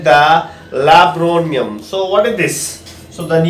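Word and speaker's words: laburnum: It is pronounced as Labronium, okay. So Labronium, children, so that is nothing but it's a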